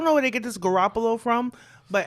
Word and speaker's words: Garoppolo: where they get this Garoppolo from but anybody from Brooklyn knows if you have an Italian last name like that is Garoppolo not Garoppolo well that's the way